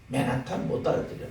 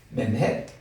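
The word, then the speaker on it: Manhattan: 그러니까 맨햇 두 번째 액센트에 있고 턴이란 말은 아예 발음도 안 하고 이런 식으로.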